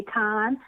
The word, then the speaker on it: Cannes: to need you to drop that S. Because the S is silent. Okay? You see why I love Yolanda. She's always teaching. Okay. Mm-hmm. You can say can or you can say con, but you cannot say can.